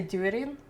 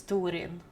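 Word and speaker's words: Túrin: and like I mean people say during but it's Turin because of the Apple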